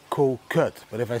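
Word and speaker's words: Kood: Thailand there's an island called coot you pronounce it like Kut but if I say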